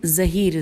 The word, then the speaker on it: ظہیر: خوارج کے رئیس و سردار ہرقوس بن ظہیر، ہجے کر لیتے ہیں نام کی، ہیر قاف واو سواد، ہرقوس بن ظہیر، زے ہے یہ رے، المعروف ذوالشدیہ، زال واو